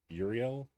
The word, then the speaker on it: Uriel: pronounce this person's name I think it's urel u e r y a l e Uriel there you go Uriel uh Flame full